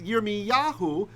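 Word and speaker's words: ירמיהו: Someone said literally my name, but I meant, how do you say in Hebrew? Zakar. No, I know. Remember. It's right up. Yirmiyahu. Yeah. Yeah, or Yirmiyah, both ways.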